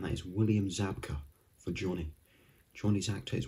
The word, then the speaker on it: Zabka: time on this one pretty much you just say how you see and that is william zabka for johnny johnny's actor